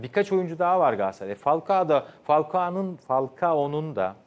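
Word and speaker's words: Falcao: değil feguli ve birkaç oyuncu daha var Galatasaray falka da falko'nun falka onun da maalesef halkayı bir türlü doğru telaffuz eder ettim ve sinir hatırladım geldiğinden beri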